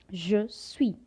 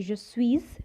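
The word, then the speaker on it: je suis: i am we say je sui as you all know that in french we don't pronounce the last alphabet so we don't say just swiss we say and if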